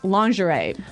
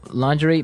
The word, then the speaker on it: lingerie: And the first one is lingerie. Lingerie. Lingerie. Okay. So, lingerie. This is a nice fancy word. Basically for underwear. Right. Right. For women's underwear. Women's underwear. Yeah. So, lingerie, but it's very nice.